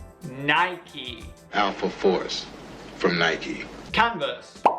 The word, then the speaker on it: Nike: one even native English speakers often make mistakes pronouncing this brand if you were saying it wrong before repeat after me Nike Nike Nike powerful force from Nike canvas another historical fashion